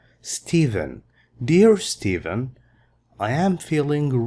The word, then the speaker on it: Stephen: This is pronounced as V. Stephen.